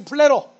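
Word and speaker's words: πληρόω: 다 같이 플레로. 좀 길게 발음해야죠.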